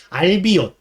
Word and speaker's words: 알비온: 그렇게 아시면 되고, 그 다음에 인도 신화를 모티브로 해서 만들어진, 그러니까 인도라고 하기는 좀 그렇고 인도 신화를 모티브로 하고 있는 알비온, 정류화온이라고 쓰고 알비온이라고 읽는 겁니다.